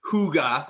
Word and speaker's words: hygge: to i had to sorry now this is hygge is how it's pronounced but it's spelled h-y-g-g-g-e which is indoor